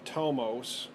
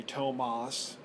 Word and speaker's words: Tomos: course they made this for a Tomos which I like to say Tomas which I guess is wrong but we're pronouncing everything